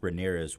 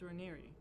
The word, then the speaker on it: Raniere: time and time again in these documentaries is that Keith Ramirez was like a very. You know that it's Ranieri, right? I don't care. Yeah, apparently I've been saying it wrong. Keith Raniere was an incredible Steven